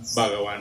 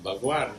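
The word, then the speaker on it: भगवान: And somebody will come out and correct them and tell them that the word is not Bhagavan, it's Bhagwan, it's God.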